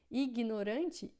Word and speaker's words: ignorant: Ignorante, ignorant, né? Então, quando a gente tem o GN em francês, a gente vai ter som de nh, como se fosse o nosso NH em português, tá?